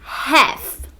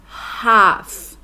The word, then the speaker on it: half: Em inglês americano, sua pronúncia seria half. Em inglês britânico, a pronúncia é half. Já na Received Pronunciation, esse A, ele é bem aberto, ele é bem A, o que a gente associaria com um acento agudo em português.